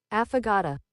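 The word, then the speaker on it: affogato: So I'm thinking aphagato, but let's see what the correct pronunciation of this word is. Aphagata.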